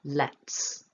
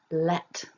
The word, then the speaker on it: let: that at the end so you don't want to voice the end of this if you voice it your t will become a d and it will sound like you said the word lead which is different that's from the verb lead so to make it nice and clear let there's a bit of a puff of air coming out of the